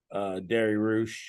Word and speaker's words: Dariush: You guys already know I'm picking Beneil Dariush. How do you say his last name again? Give me Baba Ganoush. Baba Ganoush is how you say it. Dariush.